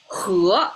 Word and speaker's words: 禾: Okay, 和 is the pronunciation, and we have 3 simple examples.